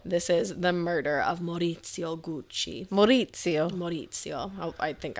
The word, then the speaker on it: Maurizio: This is the murder of Maurizio Gucci. Maurizio. Oh, I think I'm saying that right. I looked up how to pronounce it.